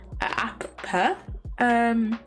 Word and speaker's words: Appa: And in Appa, you go Appa. Pop the second P in pa. Appa.